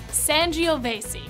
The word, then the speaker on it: Sangiovese: crazy foreign grapes son geovasy all together now sangiovese put simply plonk is your new wine wingman